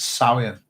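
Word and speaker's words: Samhain: indeed Celtic Harvest festivals you'll see it's spelled Sam here by the way but you just drop the Emmy it's Salient if you like and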